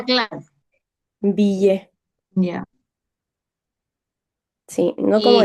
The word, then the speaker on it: billet: Billet, como la doble L, como Y o como L, decía y tú. Ah, como Y, Claro, billet.